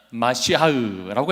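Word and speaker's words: מָשִׁיחַ: 이거를 이제 헬라어로 보면 크리스토스라고 발음을 하고요. 구약의 히브리어로 보면 마시아흐라고 해서 메시아입니다.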